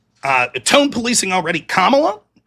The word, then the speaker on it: Kamala: Kamala. No, I'm just wondering. Is that it? Is that how you pronounce it? Is it Kamala or Kamala? Kamala. Kamala. Cool.